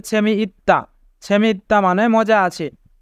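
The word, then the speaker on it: 재미있다: ইত্তা মানে মজা আছে এখানে ত বাবা সেমের পরে দ্বিগুত থাকার কারণে দ্বিগুতের উচ্চারণ তবে হবে দায় উচ্চারণ হবে সেমি ইত্তা সেমি ইত্তা মানে মজা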